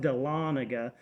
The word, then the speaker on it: Dahlonega: town but it's got a weird name um doll Nega is what I call it but it's called pronounced Dahlonega and you go in there and it's 25